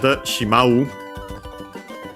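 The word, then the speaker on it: しまう: To then add shimau. Uh shimau unaccented means to end or finish.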